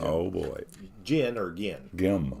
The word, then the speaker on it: Cottengim: Gim, Gim. Yeah, Gim, hard G. I knew that, and it comes out a little bit maybe like Eli Whitney or something, but it's Gim. It is cotton gim.